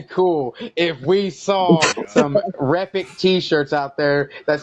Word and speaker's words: Repik: Now, I think it'd be really cool if we saw some Repik T-shirts out there that said "Repik is epic."